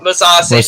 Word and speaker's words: Mousasi: Austin Vanderford lost to what's his name, Greg Mousasi. How do I say his name? Musasi.